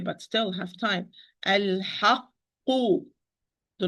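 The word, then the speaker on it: الْحَقُّ: So there is no qalqala here, even with this qaf, the first qaf, because I close the articulation point. I close the articulation point and start the pronunciation of qaf with sukun, and open the articulation point and pronounce the qaf with dhamma.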